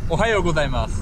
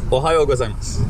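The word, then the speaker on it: おはようございます: Ohayo gozaimasu. Ohayo gozaimasu. Ohayo is like my last name, Ohayon.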